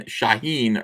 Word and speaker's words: Shaheen: Antoine Dennison says the guy's named Dan Shaheen rhymes with latrine.